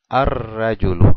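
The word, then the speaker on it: الرجل: el artículo al lam decimos arul ar arul no pronuncio el lam me voy directo a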